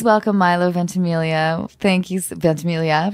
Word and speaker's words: Ventimiglia: um my please welcome milo ventimiglia thank you ventamilia right vince emilio ventimiglia yes emilia oh that's wonderful uh and at